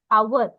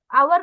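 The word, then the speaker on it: hour: सब वोवेल्स है और वोवेल जैसे उच्चारण वाले शब्द जैसे आवर आवर का मतलब है एक घंटा हम तो आवर का मतलब घंटा ना बच्चों तो आवर से ओ का साउंड आ रहा है इसलिए आप एन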